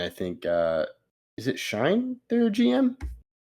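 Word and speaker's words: Schoen: Joe Shane, according to uh Wikipedia, Joe Shane, it's pronounced Shane Joe Shane.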